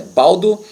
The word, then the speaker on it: Baldo: cão chamado Paulo Baldo Baldo se escreve Baldo mas É Valdo de frente pilates Valdo